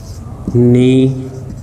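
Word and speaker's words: mnemonics: इसको हम निमोनिक्स का नाम देते हैं, इसको प्रोनाउंस किया जाता है निमोनिक्स।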